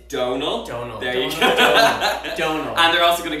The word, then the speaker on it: Donal: it to you for saying my name it's Donal don't know they're also gonna give you get